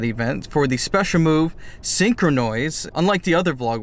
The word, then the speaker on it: Synchronoise: For the special move, Synchronoise, unlike the other vlog where I just mispronounced it completely, I called it Synchronize. Synchronoise, which Gallade and Gardevoir can both learn.